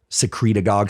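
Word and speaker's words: secretagogue: igf-1 and growth hormone secret agog sounds like synagogue but secreting stimulates growth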